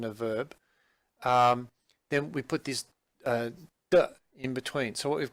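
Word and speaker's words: 的: So in the dialogue, one of the characters talks about an jing di. The should be pronounced de. But you type it in as di.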